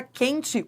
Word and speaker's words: quente: Na palavra quente, o Q e o U formam um dígrafo, porque o U não é pronunciado.